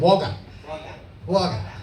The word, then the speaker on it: Wagga Wagga: And tell them Wagga. Wagga. Oh, Victoria sounds so much better than Wagga. It's actually pronounced Wagga Wagga.